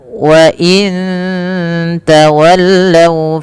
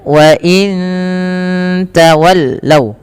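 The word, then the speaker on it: وَإِن تَوَلَّوْا: Baik, selanjutnya pada lafal wa in tawallaw fa innama hum fi shiqaq. Sama ketika nun mati bertemu tak lagi ada bacaan ikhfa hakiki, samarkan nunnya ke ta. Wa in ta ya, wa in tawallaw.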